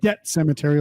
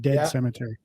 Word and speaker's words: Debt Cemetary: Debt Cemetery, like DEBT, not Dead Cemetery.